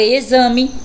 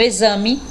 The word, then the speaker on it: exame: a próxima palavra exemplo olha aí o x com som de z exército Então realmente o X Ele fica totalmente diferente na pronúncia da palavrinha escrita com ele então aí com z eu tenho exame exército e exemplo vamos ver x com